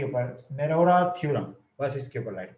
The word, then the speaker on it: Morera: आज हमें थ्योरम करना है मेरोरास थ्योरम, यानी अब इसकी ये नाम है इस तरह स्पेलिंग है मेरोरास थ्योरम, इस तरह के इसको प्रोनाउंसिएशन MORERA मेरोरास थ्योरम।